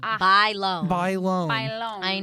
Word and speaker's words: Bailon: do you say correctly buy think like you buy something and then you loan something buy loan buy loan buy loan